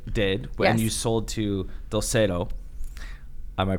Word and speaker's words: Dulcedo: So what Sunday Creative did when you sold to Dulcedo? Am I pronouncing that correctly?